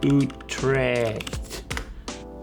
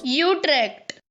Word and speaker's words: Utrecht: How to pronounce Utrecht? Okay. Utrecht. Utrecht. Wait. They can't be right. Oh, we're on the American pronunciation. Let's switch to the Dutch the British pronunciation.